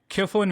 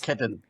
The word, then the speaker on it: Khedun: I'm your host and today we have Kon with us. Ketan. Did I pronounce it right?